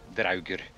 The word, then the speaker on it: Draugr: Yeah, so if you're going to pronounce them correctly, Dvargir, Draugr.